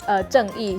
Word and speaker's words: Zheng Yi: So it's pronounced as Zheng Yi.